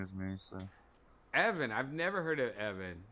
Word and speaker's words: Evan: The funny thing is my name is Evan. Like, it rhymes with Kevin, obviously.